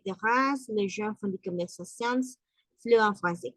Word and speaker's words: conversations: Conversations, sí se pronuncia la S. Conversations. ¿Por qué? Porque está conversación, en conversación, deux conversations, trois conversations. La première conversation, cuando es en singular, termina en una pronunciación nasal. Conversación. El modo de articular también cambia. Decimos conversación. On. Y cuando es que se pronuncia la S, entonces decimos conversations. Conversations.